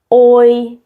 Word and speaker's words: oi: Eu, oi. Ça, c'est pas ouah comme en français, qui fait pas de sens être ouah comme en français. En portugais, c'est o et c'est i ensemble.